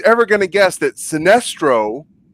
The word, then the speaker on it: Sinestro: going to guess that sinestro whose name rhymes with sinister is really the villain